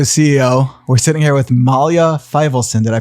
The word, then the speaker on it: Malya Feivelson: to solo to CEO we're sitting here with Malia Filson did I pronounce that correct yes perfectly amazing Mia tell